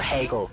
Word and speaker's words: Hegel: So you can't just read a summary of Heaggle to understand how Markx references or Hegel is how it's actually pronounced.